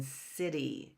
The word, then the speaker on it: city: Cub right and actually soft Seas come before ease and eyes that's when we have soft Seas like in city city c i t y